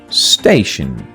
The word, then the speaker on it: station: The first one is station. Station. T-I-O-N. Shen. Station.